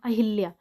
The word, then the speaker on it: अहल्या: गलती ही कर देते क्योंकि हम लोग उच्चारण भी अहिल्या ही करते ना कि अहल्या करते अहल्या हमारा क्या है